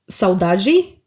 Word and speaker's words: saudade: Speaking about Brazilian songs, they keep saying one thing that saudade. Saudade, yes. Which Good is pronunciation, by the way.